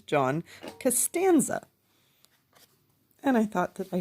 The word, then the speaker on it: John Costanza: Now, for days, I've been reading these books and I've been pronouncing his name John Costanza. I don't know why. I thought that that was his name. It is not. It is John Costanza.